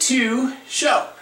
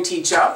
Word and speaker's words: Teachout: to pronounce my name so I pronounce it as to show right so that's how I pronounce it if you want to know a lot of people call me teach out but that's okay I'm